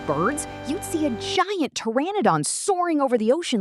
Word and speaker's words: Pteranodon: The superstar of the family is the Pteranodon, pronounced Pteranodon.